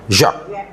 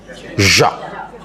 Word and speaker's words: Jacques: Jacques. Ya, J-A-C-Q-E-S. Jangan bacanya. Jacques. Tak apalah dipanggil Jack pun dia tak marah.